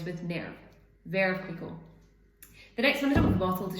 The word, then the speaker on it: Veuve Clicquot: It's not Veuve, it's not Veuve Clicquot. It's, well, I think it's Veuve Clicquot. It rhymes with nerve, but it depends on how you say nerve, because some people would say neuve.